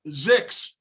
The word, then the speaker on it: X: X is pronounced Zix.